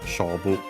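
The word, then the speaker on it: 勝負: By the way, accent on the first mora, Shobu, Chinese compound of those.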